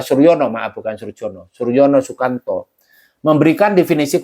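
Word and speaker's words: Soerjono: mengatakan begitu nah menurut Suryono surjono ya kalau ini huruf lama ejaan lama Suryono jukanto yaitu dibaca Suryono melakukan Suryono Suryono memberikan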